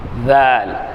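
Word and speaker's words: ذال: வேற சரியா வேல் அப்படின்றத உச்சரிப்பு என்ன அப்படின்னா நுனினாவை மேல்பல் மேல்பல் நுனியில் லேசாக சேர்த்து உச்சரிப்பது இந்த நுனினாக்க மேல் பல்லினுடைய நுனியில மேல்பினுடைய நுனியில லேசா சேர்த்து என்ன செய்றது உச்சரிக்கணும் பாருங்க ஜால் ஜால் ஜால் ஜால் ஜால்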